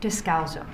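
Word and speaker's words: Descalzo: Dowzo. My last name is spelled D E S C A L Z O.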